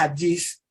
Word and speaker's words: Hadjis: O sea, aunque ujú, mi apellido se pronuncia Adgis, yo ujú.